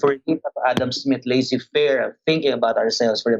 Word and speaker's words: laissez-faire: Sir, I don't think that it is pronounced as laissez-faire. Ingon siya, ang pag-pronounce ko no kay Lasfa.